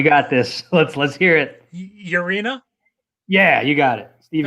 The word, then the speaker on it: Urena: Urena.